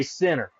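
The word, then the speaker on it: Centre: Barry's going to Danville, Kentucky to play center. Spelled like cree, but you say it's center.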